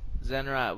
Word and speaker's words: Zenrot: That's actually how to say the name, right? That is how you say the name. Zenrot.